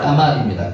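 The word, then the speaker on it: גמל: 까말까 원어로 까말입니다. 까말 영어로 뭔줄 아세요? 카멜입니다. 카멜 비슷하죠? 영어 발음이나 키보리어 발음이나 까말 카멜 락타 약대라고도 합니다.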